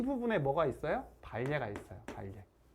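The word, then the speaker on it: 반례: 거짓이 되는 예, 그걸 우리가 뭐라고 부르냐면 발예라고 그래요. 발예. 되지 않는, 반대되는 예라고 생각하면 돼요. 발예. 우리가 우리 이거 신라라고 읽지 않아요? 신라라고 읽죠? 그러니까 이것도 반리에라고 읽지 않고 발예라고 읽어요. 발예.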